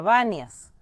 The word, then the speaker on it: Banias: Pero al principio del video les dije que la ciudad se llama Váneas, hoy en día con B. ¿Por qué? Porque siglos y siglos después, con la invasión árabe, los árabes no sabían pronunciar panias porque en el alfabeto árabe no tienen la letra P. Y por eso Pania se convirtió en VIA, pero esta ciudad tenía